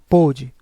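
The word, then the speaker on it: pôde: veja que a diferença do primeiro sem o acento para pode ficar com som mais aberto pode enquanto na segunda com o circunflexo o som fica mais fechado pode os dois possuem a mesma sílaba tônica o que vai diferenciar é justamente a tonalidade do som aberto ou fechado assento grafe marca o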